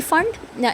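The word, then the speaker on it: Pfund: और लास्ट में क्या है, इट्स पी फंड, इसका पी साइलेंट होता है, इसको हम फंड सीरीज़ भी कहते हैं.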